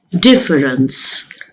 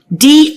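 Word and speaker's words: différance: Then there is his sneakiest idea, difference. I know difference. What's new in it? It's spelled difference with an A. But sounds exactly like difference.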